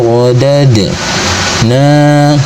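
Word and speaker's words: رددنا: Thumma radad. Nah, kemudian dal sukun ini disebut dengan hukum bacaan qalqalah sughra. Cirinya sukunnya sukun asli berada di tengah-tengah bacaan. Maka cara bacanya, dal sukunnya dipantulkan dengan pantulan kecil. Radadna.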